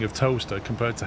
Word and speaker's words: Towcester: Like if you look at the spelling of toaster compared to how you say it, it's Yeah. ridiculous. How did you spell it? Towcester. It's like Towcester, and it's Wait, pronounced yeah, and it's Yeah. pronounced toaster. Toaster.